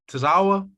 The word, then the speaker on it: Tazawa: the first try ariel like mario tazawa like tazawa so you got it you